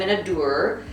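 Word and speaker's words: minaudière: an evening bag and I believe you pronounced them in a door it is a French word but it is a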